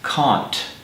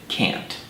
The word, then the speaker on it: can't: like to mention that speakers of British English normally pronounce this word as can't whereas in America we pronounce it can't and now for an